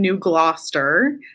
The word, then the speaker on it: New Gloucester: So Holly, tell me a little bit about where you are at and like pronounce the name of your town for me. So I live in New Gloucester, and I am in technically the Sebago Lakes region.